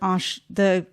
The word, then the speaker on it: Arches: Some people will call this arches, but it's actually pronounced arche.